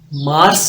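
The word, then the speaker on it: März: मार्च को आप पढ़ते हैं मैस मैस नी मार्स एक होता है आप इसको पढ़ेंगे मर्स एक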